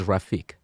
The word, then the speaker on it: Rafik: Muhammad salaman rafik and the correct pronunciation of your name is rafik rafik rafik okay so we have